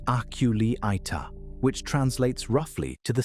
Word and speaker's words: Aculeata: Scientists call that whole group the Aculeata, pronounced Aculeata, which translates roughly to the stinging ones.